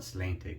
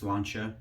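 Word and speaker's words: Sláinte: I call it Slantic because that's how it phonetically reads. But it's Irish, it's pronounced Slantia.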